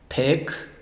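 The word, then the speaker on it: pick: van a sonar cortas el sonido largo de la i Cuál es a o el nombre ahí pero aquí no podemos decir pine o pike no Aquí tiene que sonar sonido corto el sonido corto de I es e e e entonces pec pec y nec pec pn e e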